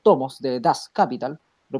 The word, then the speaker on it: Das Kapital: Teoría que fue defendida en el libro, los 3 tomos de Das Kapital, lo pronuncié bien, Johannes, ¿o no? Das Kapital.